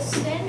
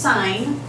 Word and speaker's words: sin: and we have our 5° angle is it sin or sign it's pronounced sign the actual word is that and we abbreviate